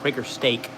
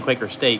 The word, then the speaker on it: Quaker Steak: quaker stake in lube i gotta pronounce it right quaker steak s-t-e-a-k um i kept saying quaker state because it looks like the logo for breaker state uh but it's quaker steak and we were down